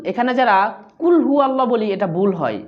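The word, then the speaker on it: قُلْ: আমার সাথে বলুন কুল কুল কুল কুল এখানে খেয়াল করুন অনেকে আমরা কুল বলি। এখানে কাফ লাম পেশ কুল এই কুল না। এখানে হচ্ছে কফ লাম পেশ কুল। এখানে যারা কুলহু আল্লাহ বলি এটা ভুল হয়।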